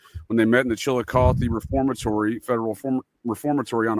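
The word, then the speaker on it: Chillicothe: Chilikoth. Isn't that how it's pronounced? Chilikoth. Uh Chilikothy. Chilikothy.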